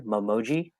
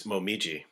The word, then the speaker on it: Momiji: Momoji, I don't know, but I think it's Momiji.